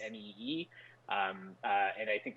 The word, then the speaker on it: mu: uh you know it is going to the world health organization i presume they will call it uh the next greek letter which is but pronounced m-e-e um uh and i